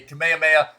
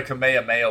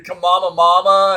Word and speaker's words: Kamehameha: youtube and they had no idea how to pronounce kamehameha and it was they they were calling it oh like the kamama mama and stuff like that